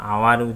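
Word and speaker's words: hour: আওয়ারটা consonant H থাকলেও এটা আওয়ার দিয়ে উচ্চারণ হচ্ছে, এইচটা এখানে প্রাধান্য পাচ্ছে না, সেই জন্য অ্যান হয়েছে।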